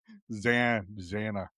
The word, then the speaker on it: Xana: Yeah, you keep pronouncing it wrong. Oh. Xana.